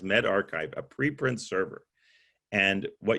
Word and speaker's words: medRxiv: It's pronounced Med Archive, a preprint server.